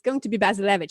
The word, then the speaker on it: Bazilevych: Like, no, it's going to be Bazilevych. So it's like Basil, but with a Z, and then Evych.